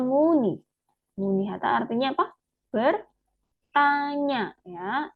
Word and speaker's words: 문의: Nah, tadi 문의하다 ya, tulisannya seperti ini tapi ya. 문 sama 의. Bacanya muni.